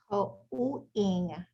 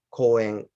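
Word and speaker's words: 公園: You might want to emphasize its separate syllables just so that more audible. Um, it, it's ko, ko u en, Ko-ing, ko en, poet, ko en, ko-ing. en. You have to close your lips.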